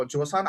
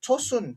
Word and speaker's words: Joseon: sudah pernah dengar mau josan atau kadang-kadang ditulis chosun tapi bahasanya bukan chosun tapi itu josan itu apa eh penulisan zaman dahulu ya penulisan zaman dahulu tapi sebenarnya dibacanya josan josan itu adalah dinasti